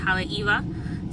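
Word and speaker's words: Haleʻiwa: It's in an area called Haleiwa. It's spelled Haleiwa, but it's pronounced Haleiwa.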